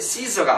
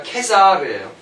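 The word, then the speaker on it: Caesar: 그러니까 케사르지 시저가 아니에요. 그럼 시저는 뭐냐? 뭐겠어요? 영국식 발음이에요.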